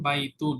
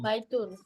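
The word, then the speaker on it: بَيْتٌ: আর indefinite যখন থাকবে তখন ওই অবস্থায় এনটা থাকবে। যেমন বাইতুন, বাইতুন তাহলে বাইতুন অর্থ হবে এ হাউস, একটি ঘর।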